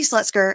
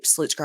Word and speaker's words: Slutzker: I go oh okay Mandy slutsker excuse me slutzker I always say it wrong Mandy slutzker is looking